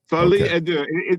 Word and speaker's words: folie à deux: Folie à deux? Folie à deux.